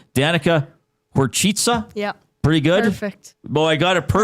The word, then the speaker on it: Horcica: it's spelled Horcica. Yeah. But it's Horchitsa. Okay, Yeah, so two different C's.